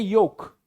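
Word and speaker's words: yolk: उसे बोलते हैं योक, यॉक करके बोलते हैं। इसमें एल साइलेंट होता है,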